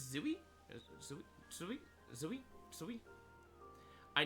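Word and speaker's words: Tzuyu: And I know like for anyone that's like a Twice fan, uh I know Chewy is technically not the proper way to um pronounce her name. I believe it's Zooie.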